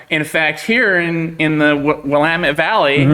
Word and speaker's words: Willamette: In fact, here in the Willamette Valley, or Willamette, is how it used to be pronounced before we got here.